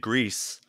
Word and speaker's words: Gris: because it is um it's the Spanish pronunciation because the studio is based in Barcelona more I just sounds